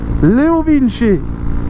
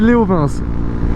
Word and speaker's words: LeoVince: cas pour moi alors on m'a dit aussi du coup dans les commentaires que ça se prononçait Leo vin chez apparemment du coup ça se prononce comme ça parce que moi dans mon autre vidéo je disais Léovince alors j'ai entendu plein